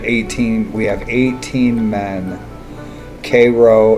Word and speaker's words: Cairo: we have 18 men k row is south and that's how that would have been pronounced and still is down here cairo but there should